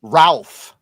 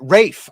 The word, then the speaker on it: Ralph: Yeah, but he doesn't pronounce it Ralph. You Americans. He pronounced it Rafe.